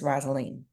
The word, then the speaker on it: Rosalene: up on the Queue that I had been mispronouncing your name so I'm gonna make sure that I get it correct Miss roselene and I'mma keep saying U thank you so